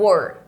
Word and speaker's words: were: E aqui a gente pronuncia o were. O were. Eu sei que aqui não parece com were, tá? Mas a pronúncia é essa.